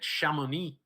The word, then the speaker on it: Chamonix: things about buying the chamonix is you have to say it like that you have to say it shamuni right an authentic chinese